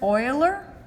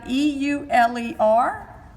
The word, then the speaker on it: Euler: Graph theory started with a mathematician named Leonhard Euler. His last name is spelled E-U-L-E-R, but it is pronounced like O-I-L-E-R.